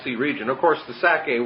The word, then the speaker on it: Sacae: region, of course the Sacae was, again, I just picture the word Isaac, and Sacae is S-A-C-A-E. It has the syllable of sac, Isaac or Itzhak right in it.